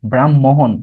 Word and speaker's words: ব্রাহ্মণ: ব্রাহ্মণ, সেক্ষেত্রে ম আগে হ পরে। তার মানে এই যে ব্রাহ্মণ শব্দটা আমরা যখন বলি, ঠিক আছে, ব্রাহ্মণ বলার ক্ষেত্রে উচ্চারণ আগে কি করি? মকে আগে করি, পরে হকে করি। কিন্তু লিখিত ফরম্যাটে হ আগে ম পরে।